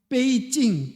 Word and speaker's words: 베이징: 그걸 갖다가 중국 발음으로 하면 중국 발음은 뭐라 그래요? 베이징. 북이라고 하는 것을 베이라 그래요. 베이징. 경이 찡이에요.